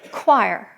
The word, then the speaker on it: Choir: And our bishop there is named uh Reverend Samuel Choir Jr. And that's choir spelled with a qu ui, not c h o y i r.